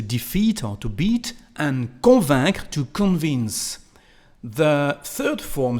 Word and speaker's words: convainc: The same thing, elle convainc. Again, we don't pronounce the letter C at the end of the verb.